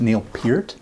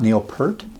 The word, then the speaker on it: Neil Peart: They're the first ones to tell you that it's pronounced Neil Pier, not Neil Per.